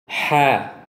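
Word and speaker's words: حَ: Huruf H keluar dari tengah tenggorokan atau lisanul mizmar atau katup epiglotis. Huruf H diucapkan dengan lembut tanpa menekan.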